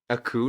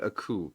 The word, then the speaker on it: coup: Aku, not Aku, but Aku. C O U P. French with their silent letter P's.